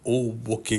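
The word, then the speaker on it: 大歩危: पुल का नाम जो इसे फैलाता है वह कण्ठ के समान है, जिसका उच्चारण ओबोके गॉर्ज है।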